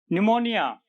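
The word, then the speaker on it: pneumonia: तो इन वर्ड्स को ध्यान से देखिए, यहां पी हर एक वर्ड में पहले पी आया और वो साइलेंट रहा है। नियम क्या कहता है, रूल क्या कहता है, एन और एस से पहले, कहां कहां, एन और एस से पहले पी साइलेंट रहता है, एन और एस से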